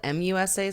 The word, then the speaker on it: Musa: see here it's spelled m-u-s-a so maybe their accents made it sound like mesa it's musa goodbye i thought that was